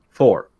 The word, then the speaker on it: four: so like word four saying four is actually really hard if you're starting to practice your accent because you want to say it like an American which is four you can't have the hard R so I would do